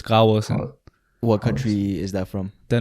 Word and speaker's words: Graversen: But the V is like semi-silent, so it's Graversen.